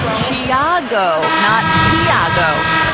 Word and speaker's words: Tiago: but he said so pronunciation of his first name is closer to Jia go and he added with